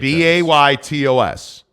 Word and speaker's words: Betos: There is a debate about how you pronounce Betos. Yeah. Justin Salas says, no, it's Betos. It is Betos. Baytos.